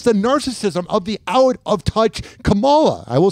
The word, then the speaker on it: Kamala: Listen, we say it the same way. I know it's Kamala or whatever, but I like Kamala too, but listen. Asking the question is dumber than Kamala. That's how you say it. If Trump says it, that's how it's Kamala.